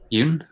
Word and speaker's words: Jung: or jung allegory uh yoon it might be pronouncing j-u-n-g yep yeah i've never you know i've never actually heard it pronounced out loud so that's that's how he pronounces it so that's that's why